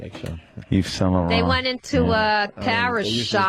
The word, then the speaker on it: Yves Saint Laurent: it- Yves Laurent.